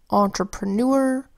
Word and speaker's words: entrepreneur: This happens in words like entrepreneur, where EUR says UR, and connoisseur, where EUR